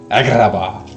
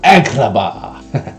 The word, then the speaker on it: Agrabah: I like how they say it. Agrabah. Like there's something cut in your throat. Agrabah.